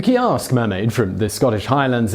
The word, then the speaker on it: Ceasg: Ceasg The “Ceasg” (pronounced “kee-ask”) mermaid from the Scottish Highlands is half woman, and half salmon.